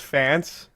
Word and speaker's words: Fantst: Also, is it pronounced Fantst, Faintest, or Fantist? Okay, so I think it's pronounced Fantst because I just went on Google Translate and that's what it said.